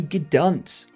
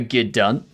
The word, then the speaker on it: Gedunt: You are officially a Gedunt.